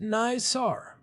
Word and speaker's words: NISAR: I have heard it pronounced NISAR. It is.